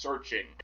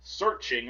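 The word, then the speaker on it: SearXNG: Priv.u searchng, although I think it's pronounced searching. I'm searching but with XNG at the end.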